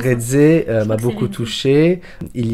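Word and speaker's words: Reze: à prononcer son nom red C c'est comme ça que ça se prononce red m'a beaucoup touché il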